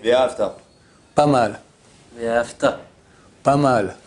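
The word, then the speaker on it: ואהבת: Trois trois syllabes V a have ta. Si quelqu'un dit fait l'accent sur l'accent tonique sur la deuxème syllabe d'accord signifie c'est un passé tu as aimé l'éternel ton Dieu. Or le texte dit tu aimeras. Donc on met l'accent sur la première syllabe et la dernière et surtout pas sur la deuxième.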